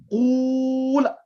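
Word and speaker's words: قل: You have 2 sakins together. Because now the ruling is whenever there is 2 sakins, 2 silent letters together, whenever there are 2 silent letters together, the weak letter is dropped.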